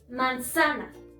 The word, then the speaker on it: manzana: Si encontráramos aquí, la sílaba tónica sonaría manzaná, manzaná. Si estuviera en la penúltima, sonaría manzana, manzana. Si estuviera en la antepenúltima, sonaría manzana, manzana. Por lo tanto, la sílaba tónica se encuentra en sa.